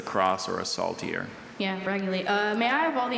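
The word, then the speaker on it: raguly: Raguli.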